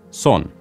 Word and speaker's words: son: are son and istan son like song without the G and aan think of